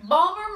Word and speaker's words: Baltimore: Balmer. Charm City. Balmer, Maryland.